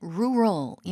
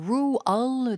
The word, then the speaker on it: rural: R 이걸 또박또박 발음을 하면은 rural이 맞는데요. 보통 이렇게 대화제에서는 그냥 루얼로 들려요.